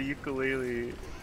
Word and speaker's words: ukulele: It was on the ukulele, and then they're like, "Do you know that it's actually pronounced ukulele?"